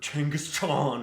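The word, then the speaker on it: Genghis Khan: Not mustache man, not Genghaskhan or Changaskan as people who think they're smart pronounce it nowadays.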